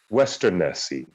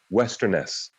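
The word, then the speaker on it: Westernesse: ones tolkien already invented western nessie also i believe that last e is silent but western nessie westerness and uh atalante i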